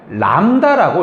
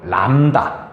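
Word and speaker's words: λ: 그러면서 읽을 때는 어떻게 읽어요? 그러면 람다라고 읽어요. 람다. 이 람다라고 읽는데 뭐를 의미합니까?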